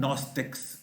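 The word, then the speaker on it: Gnostics: फिर उसके बाद है नॉस्टिक्स, इसमें भी जी साइलेंट है जी, possessing intellectual और एजोटेरिक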